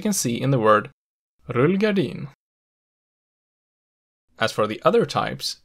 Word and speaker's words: rullgardin: dialect here, the pronunciation rullgardin is actually not the most common one. Instead, many southern speakers prefer the pronunciation rullgardin with accent 1.